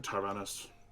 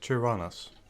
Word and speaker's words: Tyrannus: The Inquisitor called you Tyrannos. Well, it's pronounced Tyrannus.